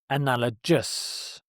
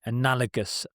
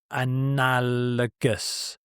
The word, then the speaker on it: analogous: But you pronounce it with a hard G, analogous, analogous, analogous to.